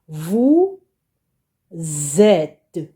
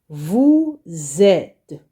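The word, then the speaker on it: vous êtes: would be read as Vu zet so the S here becomes a z Vu zet okay you got it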